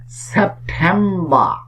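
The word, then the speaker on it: September: শুরুতেই বলে রাখি, ব্রিটিশ ইংলিশে যদি কোনো শব্দের শেষে আর দেওয়া থাকে তাহলে সেই আর উচ্চারিত হয় না।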